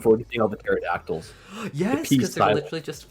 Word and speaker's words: pterodactyl: I'm looking forward to seeing all the pterodactyls. Yes, because they're literally just flying away, and I'm like, oh my god. You don't pronounce it. It's pterodactyl. Don't.